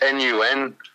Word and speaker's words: Nun: We're called Nun, but it's Nun. Spells none, which is funny in itself.